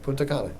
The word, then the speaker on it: Punta Cana: That's right, you said it right, Punta Cana, yep.